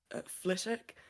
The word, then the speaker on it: Flitwick: in the UK called Fick and it's spelled like Flitwick but the W is silent which makes me think